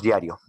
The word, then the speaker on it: diario: En el caso de diario, vemos que suena más esta sílaba, dia.